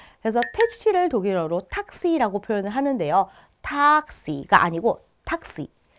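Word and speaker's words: Taxi: 그래서 마치 복자음처럼 여겨지기 때문에 그 앞에 있는 모음이 단음이 됩니다. 그래서 택시를 독일어로 탁시라고 표현을 하는데요.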